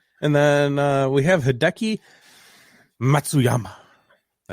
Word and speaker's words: Hideki Matsuyama: say that right yep i feel like i have to emphasize it just so i do say it right because if i try to just go through it i'm gonna say it wrong you won the masters